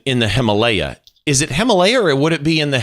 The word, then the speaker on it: Himalaya: documentary you mentioned in the Himalaya is it Himalaya would it be in the Himalayas well actually it's Himalaya which I've recently discovered we are all pronouncing it correctly okay so so I think